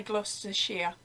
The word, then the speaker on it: Gloucestershire: of the country and it's spelt gloucestershire but we say gloucestershire and so i traveled